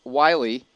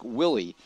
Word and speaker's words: Wiley: Alec Wiley, or actually I think it's pronounced Willie. It's Alec Willie.